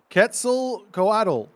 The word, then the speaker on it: Quetzalcoatl: map playing as the god that I can't pronounce. It's Ketz Quetzalcoatl.